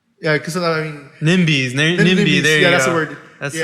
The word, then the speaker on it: NIMBY: Yeah, because I mean NIMBYs, NIMBY.